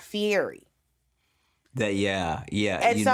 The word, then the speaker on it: Fieri: right yeah and so I was just saying Fieri because that's how I usually hear it but I had to go back and re-record because his last name is pronounced Fieri is that Fury that yeah yeah and